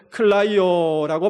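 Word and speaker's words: κλαίω: 여기서 우신여라는 말은 클라이오라고 발음하는데 여러분 그 주님의 울음은 내 심령 속에 누르면서 흐느끼며 우는 울음이 아니라 내 가슴에 있는 그 울분 그것을 다 드러내면서 통곡하는 울음이었습니다.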